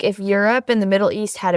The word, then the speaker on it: gyros: So are gyros just a lie? Yeah, It's an yeah. American Greek food. No. So euros. Oh, I call them I gyros. know, but that's the locals say euro.